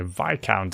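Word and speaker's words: Viscount: dumb fool name okay vi count it's pronounced as a discount i count i don't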